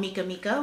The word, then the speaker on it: Mekamika: I also have an Etsy shop called Mekamika, which is M-E-K-A-M-I-K-A. A lot of people confuse it. They misspell it a little, mispronounce it. It's just Mekamika, play on my name.